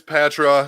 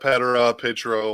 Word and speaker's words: Patraw: Yeah, it's Patraw. It's not Petro, whatever Ben said. Pedro.